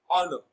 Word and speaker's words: honor: Now, honor is a bisyllabic noun and it is stressed on its first syllable as honor.